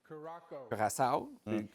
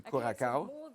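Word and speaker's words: Curaçao: W Gradski avec tout le respect que j'ai pour lui, tu es pas capable de prononcer Kuraka. Kurasao, tu dis Kurakao.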